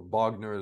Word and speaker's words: Wagner: first of all um when we talk about Wagner or Bogner as as you pronounce it in Russian is there anything to